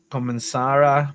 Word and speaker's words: comenzará: Esta evento comenzará pronto. Comenzará. We gotta put the emphasis on the last A.